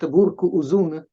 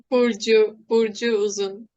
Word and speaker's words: Burcu Uzun: Burcu Uzun, is that my pronunciation correct? Burcu Uzun? Not really. Burcu Uzun. Burcu. So I always called you Burcu, and now I realize that I was completely wrong. But well, that's a very good start. Burcu. Still, I like Burcu. You know, I am Italian, so Yes, I pronounce as I read it, as if it were an Italian name.